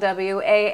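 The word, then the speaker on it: Wallice: My name is spelled W-A-L-L-I-C-E. So your research skills maybe could use some improvement other than that. But think wall ice.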